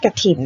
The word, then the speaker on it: กฐิน: แรก คือ คำ ว่า กฐิน ณ อ่าน ว่า กฐิน แบบ นี้ นะ เวลา เขียน ทำ อ่าน กฐิน